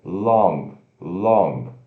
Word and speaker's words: long: Long significa longo, L-O-N-G, mas se pronuncia L-O-N que trava no céu da boca. Long, long.